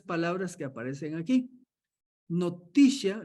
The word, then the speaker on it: notitia: Noticia, así como lo pronunciaba él en inglés, ¿va? Noticia, ascensus and fiducia. Lo diríamos nosotros, notitia, ascensus y fiducia.